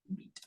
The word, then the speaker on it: Vite: So that's why it's pronounced beat.